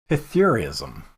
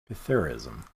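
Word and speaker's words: psithurism: It's called Pythurism. Pythurism. And the S is silent.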